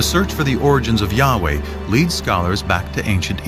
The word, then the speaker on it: Yahweh: was these four letters which in English would be yhw H which we think were probably pronounced something like Yahweh but Yahweh only appears